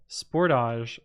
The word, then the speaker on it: Sportage: They pronounce Sportage like triage. Sportage.